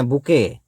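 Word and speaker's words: bouquet: क्या कहते हैं बुके टी टी से टा नहीं होगा टी साइलेंट है इसको कहते बुके पुष्प गुच्छ को बुके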